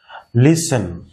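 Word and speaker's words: listen: লিসেন, এইটা টিটা শেষে, কিন্তু এই টিটা কিন্তু আমরা উচ্চারণ করব না ভ্যালে, ভ্যালে, ভ্যালেট, টি আমরা বলবো না, ভ্যালে, টিটা আমরা সাইলেন্ট করে দেব।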